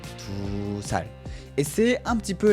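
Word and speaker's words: 두 살: l'heure de c'est tou mais pour dire 2 ans, on va raccourcir un petit peu. On va dire tout sal tout sal et c'est un petit peu la même chose pour 3 ans.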